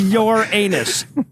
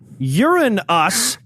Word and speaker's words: Uranus: So I'd like yes, the correct pronunciation is Uranus. Yes. That is the fucking name they gave to the planet. Now, Uranus is also an acceptable pronunciation.